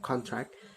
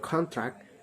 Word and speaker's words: contract: example of stress consent the different between the pronunciation of contract as a nun they sign a contract and contract as a proud it short to contract in